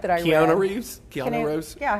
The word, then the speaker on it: Keanu: Keanu Reeves? Yeah, how do you say it? Keanu Reeves.